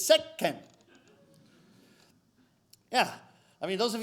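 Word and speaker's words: せっけん: it sound - okay the little two makes no sound okay it's a little celeb syllabic letter that instructs you to wait infinitesimally before proceeding to the next syllable so it's not second which is what I was saying it's set Ken yeah I mean those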